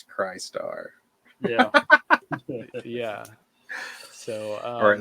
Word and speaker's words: Crystar: to say it right because if you just say the way it's spelled it's cry star yeah yeah so or